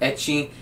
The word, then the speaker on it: ecchi: went with eight Chi but they went with itchy and there's no just CH there's no chest